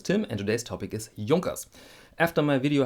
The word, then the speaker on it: Junkers: my name is Tim and today's topic is Yonkers after my video how to pronounce German watch brands link over there some